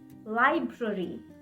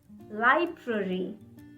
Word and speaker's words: library: follows the same pattern it also has the re sound so that makes it difficult for us to pronounce it correctly just give it a